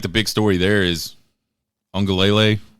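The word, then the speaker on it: Uiagalelei: I think the big story there is Ungalele. I think that's how you pronounce it. There's no N in that name, but I always hear an N every time somebody pronounces it.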